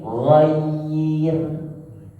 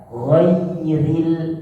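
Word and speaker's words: غير: Jadi bacanya khair, bukan bacanya khair. Enggak. Khair juga sama seperti ghair. Kalau dibaca tipis pun dalam berharokat ghairil, bukan ghairil.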